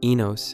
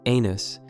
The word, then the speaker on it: Enos: Peter's mispronunciation of Enos as anus demonstrates his crude mindset, while incorporating his children into violent fantasies involving car chases and criminal behavior.